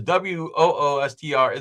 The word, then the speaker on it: Worcester: How does that word turn into Worcester? Like Worcester is Woostr.